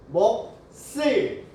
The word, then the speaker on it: 몫을: 시옷을 넘기니까 뭐라고 발음해야 돼요? 몫을. 근데 이렇게 하지 않는데요. 이런 건 어쩔 수 없어. 외워야 돼. 어떻게 발음을 해야 되느냐? 시옷이, 겹받침 중에 시옷이 뒤로 연음이 될 때는 된 소리로 바뀐대요. 그럼 어떻게 발음해야 돼요? 먹쓸, 먹씨, 값쓸.